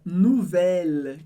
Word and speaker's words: nouvelle: Depois a palavra nouvelle, que significa nova no feminino. O U em francês sempre tem som de U, por isso nouvelle. E o E do final eu não leio.